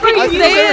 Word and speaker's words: Wenatchee: I think it's Wenatchee. How do you say that to December? What? How do you say that? Wenatchee Wenatchee Wenatchee It's like when in Rome, but it's when in Okay.